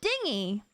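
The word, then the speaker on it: dinghy: If it's a small rowboat, then it's pronounced dingy? Oh, dingy!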